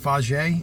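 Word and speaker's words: Fage: I think it's called I think it's pronounced posh a it's FA GE it's I think it's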